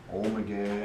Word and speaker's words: Ommegang: Oh, Ommegang.